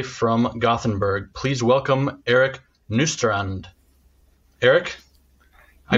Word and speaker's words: Nystrand: joining us today from gothenburg please welcome eric nustrand eric i pronounced your name okay this time you pronounce